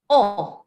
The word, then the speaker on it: ans: for the word answer a n s is pronounced as o everybody please say it